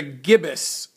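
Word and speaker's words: gibbous: how to say it correctly um it's a gibbus moon Waxing gibbus and I looked up the word gibbus gibbus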